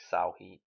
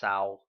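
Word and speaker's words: Samhain: Something like Salhim or something, isn't it? It's not pronounced how it looks. Anyway, so Halloween. It's funny, it's pronounced Salheem. I think it's pronounced Salheem, something like that.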